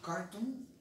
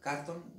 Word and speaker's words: carton: A carton, se dice carton, carton, ¿verdad? Pero como que la sílaba tónica es aquí, en car, no en ton.